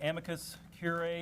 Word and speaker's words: amicus curiae: gab can you tell me what an amicus curiae is is that correct pronunciation it is the amicus brief is what